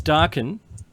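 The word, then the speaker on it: Darkin: And if you think I'm If anyone out there thinks that I'm saying dark and young, I'm not. It's darken.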